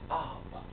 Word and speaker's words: ab: The word for mind is ab. Some may pronounce it O. So we'll say ab here because the sound ah is actually a mantra, a heka, for the heart center.